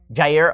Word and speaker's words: Jair: I think it's yeah year I'm not sure how you pronounced is it is it year Jair okay so send you knows